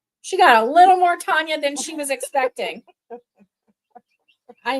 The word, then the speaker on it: Tonja: which is Russian for Tanya. And so her mom named her Tanya with a J with a J because Tatiana was spelled with a J.